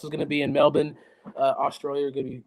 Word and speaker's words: Melbourne: And I am pronouncing that right cuz when I went to Australia and I said Melbourne, they said you must be American. It's Melbourne.